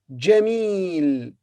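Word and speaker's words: جميل: words beautiful four letters the jim has fathas we say jah the meme has kestras who say me it's followed by long vowel ee so we say jeremy and then jamil jamil this word four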